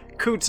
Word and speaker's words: Coutts: I think I'm saying that right. It sounds like a very southern pronunciation, and I would imagine that it's supposed to be French, but Coutts is what I've heard.